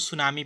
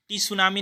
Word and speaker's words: सुनामी: इसको सुनामी पढ़ते हैं, टी सुनामी नहीं पढ़ते हैं, इसको केवल सुनामी पढ़ते हैं।